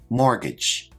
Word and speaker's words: mortgage: first term is mortgage now this word has a silent T which I've highlighted in the word let's check our pronunciation mortgage a mortgage is like